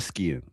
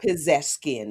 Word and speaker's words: Pezeshkian: His name is um Masoud Pezeshkian. Forgive me if I mispronounce that. Pezeshkian. You got it. Pezeshkian, yes.